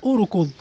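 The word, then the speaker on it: اركض: Naha mfano urkud, neno urkud kitendo, urkud kimeanza na hamzatul wasl, na hamzatul wasl itatamkwa kwa kufuata herufi ya tatu. Hamzatul wasl ya kwanza, ra ya pili, kafu ya tatu, ndo ainul fi'li. Kitendo ni rakadha, ko ainul fi'li tunaita yani, tunaiangalia kama ina dhumma, na hamzatul wasl itatamkwa kwa dhumma, nasema urkud.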